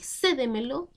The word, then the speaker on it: cédemelo: Y cédemelo, de ceder, de entregar algo, es una palabra sobresdrújula. ¿Por qué? Porque se acentúa en la anterior a la antepenúltima sílaba y también siempre llevan tilde.